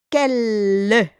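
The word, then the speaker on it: quels: We don't pronounce the S, but there is an S with quel.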